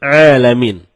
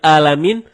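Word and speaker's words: العالمين: jauh berbeda begitu juga terkadang kita malas mencapai huruf Ain jadinya ketika kita membaca Alhamdulillahirobbil alamin malah dibaca alamin alamin menggunakan huruf Ain Ain artinya semesta alam nah kalau alamin artinya sakit kalau kita baca dari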